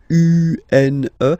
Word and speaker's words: un: So if you listen to me, you don't hear any N, okay? So it's just a combination of the two.